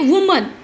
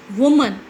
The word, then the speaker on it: women: यहाँ पे हम लोग वुमन नहीं बोलेंगे, वी यूज टू से विमेन. इसका जो E है, O है ना, वो उसका प्रोनाउंसिएशन E में कन्वर्ट हो जाता है. तो व्हाट वी यूज टू से? विमेन.